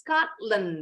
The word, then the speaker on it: Scotland: Yes, Scotland bacanya. Scotland. Scotland. Good. Kalau berdiri sendiri, yang belakang nih bacanya memang betul land. Tapi kalau Scotland, nah Scotland yang betul.